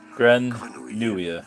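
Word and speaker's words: Grenouille: So I-double-L is like a Y, really. Granuia. Is how you say a frog in French.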